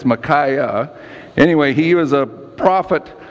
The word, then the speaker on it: Micaiah: we pronounce these names micaiah it's not my Micah it's macaé anyway he was a